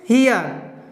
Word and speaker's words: here: अगर आर के बाद ई है तो उस समय ई का उच्चारण या तो ई अ बोलते हैं या ए अ पढ़ते हैं, ठीक है। जैसे देखिए HERE, इसको क्या पढ़ते हैं, हियर, MERE, इसको पढ़ते हैं मियर।